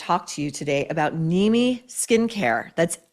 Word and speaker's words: Nimi: And that's why I want to talk to you today about Nimi Skincare. That's N I Mi, but is pronounced Nimi.